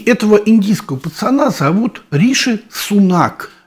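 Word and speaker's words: Sunak: индийского пацана зовут Риши сунак индийское произношение фамилии всегда Вот в такой форме всегда на последнюю букву Даже если он сам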